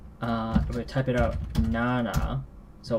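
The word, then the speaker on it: 七: How do you pronounce this? Hope everyone remembers what this character is. Nana.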